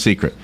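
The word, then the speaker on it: Cicret: have you heard of this it's called a secret c i c r i t I guess it's spelled but it's pronounced secret it's a bracelet and IT projects an image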